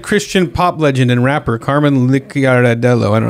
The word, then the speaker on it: Carman Licciardello: Famed Christian pop legend and rapper Carman Licciardello.